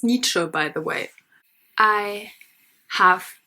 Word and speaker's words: Nietzsche: It's pronounced Nietzsche, by the way.